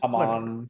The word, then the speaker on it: Hamon: Hamon. Yeah. Hamon. They say Harmon.